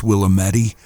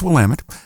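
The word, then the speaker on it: Willamette: Um if you're out of state, it may look like the word says Willamedi. Uh it's pronounced Wamtt.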